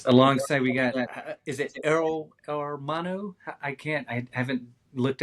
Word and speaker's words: Hermano: Alongside we got is it Armano? I can't I haven't looked at the Dual Lipa translation this week. How do you say brother in Spanish? Armano. How do you say it? Hermano is fine.